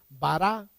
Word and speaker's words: bará: utilizando la forma verbal bará a Pon el acento en la última a porque no pude corregir